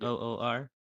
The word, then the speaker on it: Noor: And they were exiled from the Noor dimension, I believe that's how you say it, Yep. Noor, and that Aisha was one of them, which I believe Aisha is her great grandmother.